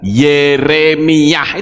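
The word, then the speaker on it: ירמיה: yesayah yeremiah abiah zakarah Kalau depannya Yod he mereka tidak mungkin membaca yah tapi membacanya ye contoh misalnya yeremiah itu Yod he bacanya ye begitu juga dengan yesua Yod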